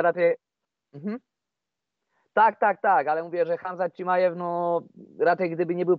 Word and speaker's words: Hamzat Chimaev: Czy Kamzat Chimaev, Hamzat Chimaev, bo tak się właściwie wymawia, Hamzat Chimaev da radę udźwignąć tutaj dwie walki w ciągu 10 dni.